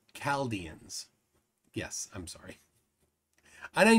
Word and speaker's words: Chaldeans: So Coffee Breath says Chaldeans is a hard C. Chaldeans.